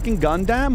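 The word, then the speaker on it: Gundam: Was that a gunam or what was that?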